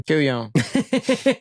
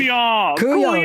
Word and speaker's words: kuon: Kuyon. That's what it sounds like. Kuyon. That's exactly how it is spelled.